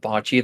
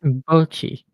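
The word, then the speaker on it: Bocchi: everyone who's like a Bocce the Rock fan is like a raging like who is like an incorrigible like fascist or reactionary Yeah, I've seen or this.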